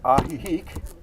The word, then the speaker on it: Ajijic: i'm a rio well in this case a j equals an h yeah yeah i just